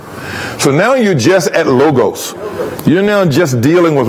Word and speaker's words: logos: listen strong's g 3056 lagos logos see that so you can do that anytime you want to most most americans say logos okay but as low as lagos okay lagos now if you say